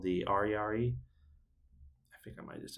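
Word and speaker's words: ariary: they made their own currency it's called the arari I think I might just just pronounce that it's spelled a r i a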